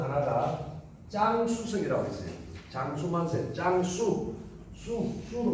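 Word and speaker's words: 江苏: 장수만세, 짱수, 수로 발음합니다. 중국말로는 한자로는 강소. 중국은 강을 장이라고 발음합니다. 소는 수로 발음하고.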